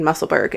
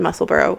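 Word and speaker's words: Musselburgh: actually I was saying musselberg and it's actually muscle burrow which is after a city town in Scotland and you know what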